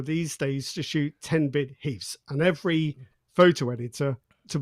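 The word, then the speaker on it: HEIF: Do we say H-E-I-F? Heath. Heath. It's not Hive. I've been calling it Hive all this time. So it's Heath.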